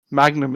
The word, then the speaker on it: Mangum: that shows how much is Mangum a scene is Mangum yeah the end is before the G he's also said he doesn't care I believe he pronounced it Magnum is a better law